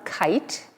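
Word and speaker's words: Khaite: maron and pants from kite spelled with a kh and my shoes are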